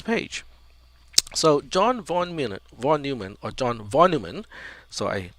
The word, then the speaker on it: von Neumann: in the pronunciation here the stress or the emphasis is on new so von neumann von neumann volume and volume okay